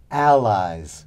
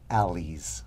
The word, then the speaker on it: ally: But take care with the pronunciation. In English, allies, not allies, okay? And of course, in the singular, ally.